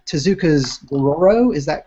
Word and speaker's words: Dororo: you had I want to make sure I'm pronouncing Tezuka's Dororo. Is that correct? Oh yeah, yeah, that's right, Dororo.